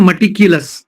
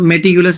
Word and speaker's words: meticulous: सही उच्चारण होता है मटिक्यूलस, मटी, बट इंडिया में हम लोग सब मेटिकुलस ही बोलते हैं, कोई मटिकुलस नहीं। Correct pronunciation is मटिक्यूलस।